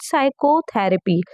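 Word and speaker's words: psychotherapy: अगर बात करें तो पी साइलेंट है हम लोग को पता है हम लोग पी को पढ़ते ही नहीं है क्या पढ़ते हैं साइकोथेरेपी साइकोथेरेपी पढ़ने की वजह से पी साइलेंट है सॉरी इतनी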